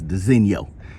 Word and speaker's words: designo: and my subs know i always just call it the signal what it looked like but i think i found the proper way to pronounce it is designio so these are all